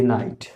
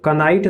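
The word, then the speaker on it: knight: तो कॉन्सेप्ट हमारा यही है कि के बाद जब एन आए तो के साइलेंट होता है, यानी कि ये जो के है ये चुप हो जाता है। तो ये जो लिखा है इस करेक्ट प्रोनाउंसिएशन इसका नो, नो लिखा है। ये नाइफ, ये नी, ये नाइट। इसको कनाइट नहीं पढ़ेंगे, इसको किदी नहीं पढ़ेंगे, इसको कनाइफ नहीं पढ़ेंगे, इसको कुनो नहीं पढ़ेंगे।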